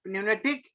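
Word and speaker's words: pneumatic: ये न्यूमेटिक है, P silent है, हाँ, न्यूमेटिक और हाइड्रोलिक, ये सब 5 एक्चुएटर है।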